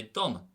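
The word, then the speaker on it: dom: If I say for me, I'd say dum. So it's on a broad vowel, on an O, therefore nothing changes, normal D pronunciation.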